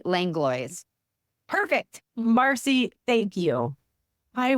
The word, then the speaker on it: Langlois: minute ago you bet it's Marcy langlo perfect Marcy thank you